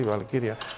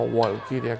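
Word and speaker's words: Walküre: Por cierto, Valquiria, que en castellano se puso con V, se pronuncia en alemán con V, porque la W alemana se pronuncia con V y está bien puesto así, Valquiria, no Walkiria como pronunciaría un inglés.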